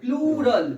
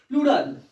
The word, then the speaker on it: plural: প্লুরাল, উচ্চারণটা ঠিক করতে হবে, প্লুরাল, PLURAL, প্লুরাল। সবাই পুলার পুলার করে, পোলার ফ্যান বলিস না তোরা, প্লুরাল।